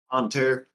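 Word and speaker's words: Bonne Terre: Is that how it's pronounced? Bon Terre or Bon Terre? Bon Terre.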